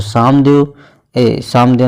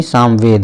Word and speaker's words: सामवेद: और सामदेव नहीं, सामवेद है।